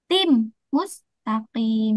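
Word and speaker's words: صِرَاطٍ مُسْتَقِيمٍ: Bacanya alaim mustaqim. Nah, itu salah. Tim mustaqim yang betul bacanyaatim mustaqim. Nah, jadi ditekan ya ditekan dua harakat dengan suara de dengung tim mustaqim.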